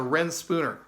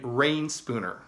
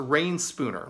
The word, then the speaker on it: Reyn Spooner: Yeah, I said, yeah, it's a Ren Spooner. And the gentleman said, oh, you mean Rain Spooner?